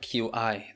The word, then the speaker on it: qi: It's spelled Qi, that is qi.